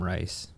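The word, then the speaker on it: Riess: His name's Adam Geiss, and apparently he proved that the universe is expanding. It's actually Adam Rice. Adam Guy Rice.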